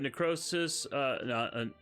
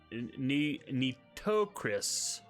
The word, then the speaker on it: Nitocris: Extreme says, do you have necrosis? Nitocris. I always pronounce her name wrong.